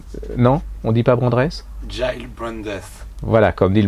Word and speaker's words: Gyles: de sa mort, je n'ai jamais réussi à prononcer son nom. Gilles Brandreth. Non, on dit pas Brandreth? Giles Brandreth.